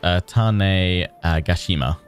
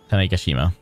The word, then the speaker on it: Tanegashima: The pronunciation of that is Tanegashima. Tanegashima.